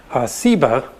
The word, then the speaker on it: Seba: also a related term a term that most scholars think is related that has just a different S sound Seba and Augie explains that